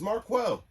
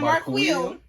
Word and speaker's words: Marquel: My name is Mark Quell. Okay, so No, Not Mark Quill. It's That's how like Jamaicans. If you Marquis. certain Jamaicans say my name like that.